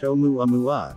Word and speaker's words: ʻOumuamua: The Pan-STARRS team dubbed it Oumuamua, pronounced Oumuamua, which is Hawaiian for a messenger from afar arriving first.